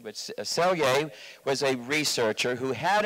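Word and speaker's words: Selye: was a man sergei in hungary in the pronunciation of chelye but celie was a researcher who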